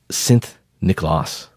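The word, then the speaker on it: Sint Nicolaas: in Dutch was pronounced was well written differently pronounced slightly differently so it was synth nichlas s i n t n c o l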